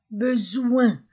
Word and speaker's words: besoin: S entre deux voyz le Z o I N1 besoin.